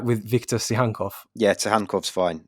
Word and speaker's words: Tsygankov: Not to say that any of the others are worth less my correct pronunciation, but am I getting it right with Viktor Tsygankov?